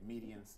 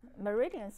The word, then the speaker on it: meridians: Okay, medians is... Meridians, right?